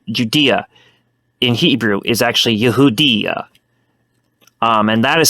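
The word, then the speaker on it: יהודיא: But in Hebrew, the proper term for Judea in Hebrew is actually Yehudiya. And that is spelled Yod, He, Vav, Daled, Yod, Aleph.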